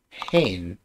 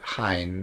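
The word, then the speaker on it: haen: Hain, not H-A-N-E, but hain, like hay, to hold, to have.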